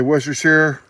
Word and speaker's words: Worcestershire: I'll say Worcestershire, like New Hampshire. Doesn't rhyme with New Hampshire. All right, but if you have trouble saying Worcestershire sauce, call it salsa inglesa.